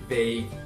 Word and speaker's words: vague: um padrão, que são palavras que terminam com G, U, E. E nesse caso, novamente, as vogais U, E não são pronunciadas. Então, nesse caso, só pronuncia o G, aquele G seco, sem nenhuma vogal. Cuidado para não colocar vogais depois dessas palavras. Vou dar alguns exemplos que são colleague, play, fatigue, vague, league.